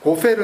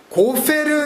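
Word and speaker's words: גֹּפֶר: 다시 고친 거죠 잔나무 고페르 나무로 히브리 원음을 뭐 우리 말에 F 발음이 없으니까 뭐 우리 우리말로 최대한 가깝게 이렇게 그냥 기록해 주는게 훨씬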